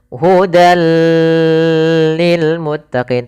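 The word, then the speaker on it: هُدًى لِّلْمُتَّقِينَ: Maka awalnya hudan bertemu dengan lam, maka dimasukkan ke huruf lam. Hudal hudal lil muttaqin.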